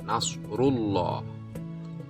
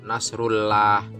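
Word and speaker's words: نصر الله: lamjalalah jatuh setelah pomade maka dibaca loh tebal Nasrulloh tidak boleh dibaca Nasrullah salah harus dibaca Nasrulloh Hai kemudian woro Ican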